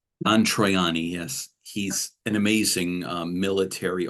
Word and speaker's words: Troiani: the pictures that are absolutely fascinating by Don Trio, say his name, Triani. Don Troiani, yes.